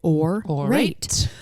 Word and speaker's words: Aurate: You guys, Aurate, spelled Aurate, and you pronounce it Aurate, is fine jewelry made in New York City, founded by women for women.